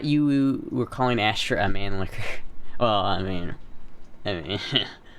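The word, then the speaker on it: Mannlicher: like 90 I don't there's no other way to pronounce it that's just the way it is man licker it's like man lick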